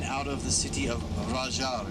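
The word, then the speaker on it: Ghajar: of the city of rajar it's spelled with a gh because in arabic gh means an r all right so this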